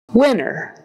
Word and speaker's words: winner: like s Shu n winner winner winner winner chicken dinner so winner rhymes with dinner um we don't want